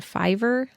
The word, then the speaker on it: Fiverr: websites like upwork and Fiverr if that's how you say it actually it's f-i-v-e-r-r have listings for freelance